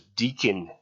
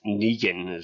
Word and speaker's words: Negan: on the road um I thought that the pronunciation was deakon but it's Negan so um and I did see a thing